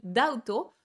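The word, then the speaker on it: D=OUT: mais c'est un groupe qui s'appelle dauto sauf que ça s'écrit d donc la lettre D égal out o u t sauf que moi je pensais que ça c'est ça se prononçait peut-être genre d ou d out et donc moi qu'est-ce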